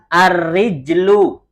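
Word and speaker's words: الرِّجْلُ: Kalau roknya kasroh, jimnya sukun, bacanya apa? Ar-rijlu. Artinya kaki.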